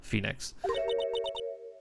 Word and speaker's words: Phoenix: Actually, I believe that's pronounced fenix.